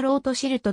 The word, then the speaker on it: ロートシルト: イギリスの銀行家ドイツ語読みではなーたんマイアーロートシルトと読むマイヤーアムシェルロートシルト